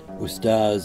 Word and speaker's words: Ustaz: Muhammad Taha ustaz Mahmud ustaz and an honorific in the Sudanese Arabic pronunciation of the word for Teacher often visited abah harz